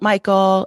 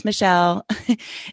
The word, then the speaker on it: Mechiel: My name is a little difficult. It's Mechiel, but it's spelled funny. And it's Mechiel. That's Mechiel, not Mechiel, not Michael. It's Mechiel. And.